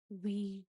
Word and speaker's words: Ouija: A Ouija board. Because even though this is a vowel, but we pronounce it as Ouija.